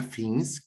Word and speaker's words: Fins: Hoy estoy con Fins, creo que se pronuncia así, ¿verdad? Fins.